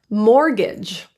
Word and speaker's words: mortgage: Only the first T is silent. Mortgage and Christmas.